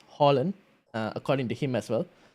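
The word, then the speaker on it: Haaland: week two i've got harlan on the screen oh apparently in norway you pronounce it as holland according to him as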